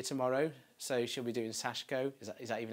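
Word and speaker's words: Sashiko: So she'll be doing Sashko. Is that even how you say it? Yeah, Sashko.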